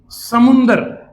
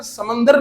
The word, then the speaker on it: समुंदर: Okay, इसके बाद seize, समुंदर। असल में इसकी उर्दू में प्रोनाउंसिएशन समंदर नहीं होता, इट इज समुंदर।